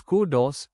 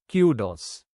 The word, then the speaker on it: kudos: Kudos let's learn together you can pronounce the word as Kudos or cudos the meaning of the